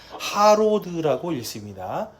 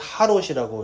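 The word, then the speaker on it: חרוד: 히브리어로 가면 하로드라고 읽습니다. 하로드. 근데 이제 한국어 성경에서는 하롯이라고 이렇게 번역을 했어요.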